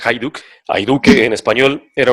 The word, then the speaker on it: Hajduk: j the uk hajduk pero se pronuncia hayduk hay duque en español